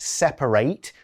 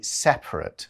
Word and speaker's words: separate: Now remember, this is a verb, so you say it separate. The adjective, you just say separate. So different pronunciations, but same spelling.